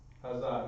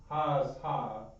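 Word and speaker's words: הזה: So, in the meantime, just pronounce it as such, Hazah. Hazah, not Haz-Ha, Hazah.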